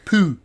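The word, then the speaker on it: pull: work the French word for sweater is the Pooh is spelled PU ll there's no e on the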